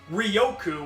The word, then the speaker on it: Riryoku: Now, today's card is Riryoku, or as they say in the anime, Riryoku, which kind of is weird because it's like missing an entire syllable.